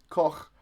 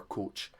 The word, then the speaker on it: Koch: up see you c-o-c-h which nobody can pronounce unless you're Scottish log Koch not Greg or coach um he's really funny